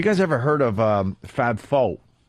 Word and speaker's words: faux: And after my physical therapy yesterday, he's like, "Have you guys ever heard of Fab Faux?" As in F-A-U-X, Fab Faux. Faux, like fake.